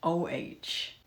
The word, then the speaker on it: eau: So fresh, but it isn't OH. It's spelled like eau de parfum. Oh so fresh. EAU. It's a play on the word. Oh so fresh. EAU. Oh.